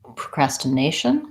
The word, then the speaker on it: procrastination: procrastinate then to add procrastination procrastination I have a different syllable stress than my nay gets stressed so procrastination still has the up procrastination short short short long short procrastination and for any